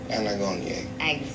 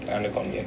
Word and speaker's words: Anagonye: Got the name wrong. Agano, Komongo. Anagonye. Say it again? Anagonye. No, say what you said before. I did. Anagonye.